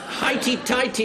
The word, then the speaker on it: highty-tighty: Highty-tighty is the way I propose to pronounce it.